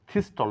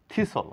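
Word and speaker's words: thistle: কোন সাউন্ড নেই হুইসল থিস্টল না থিসল কাটাকাটি বিশেষ বাসল তাড়াহুড়া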